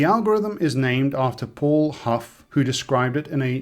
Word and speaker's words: Hough: The algorithm is named after Paul Huff who described it in a 1959 paper and I believe the correct pronunciation for his last name is like the word rough.